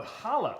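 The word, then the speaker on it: challah: what was this oh holla bread oh hollow so you don't even pronounce the sea oh holla okay so what is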